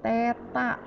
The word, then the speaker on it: theta: Iya, itu dibacanya adalah theta.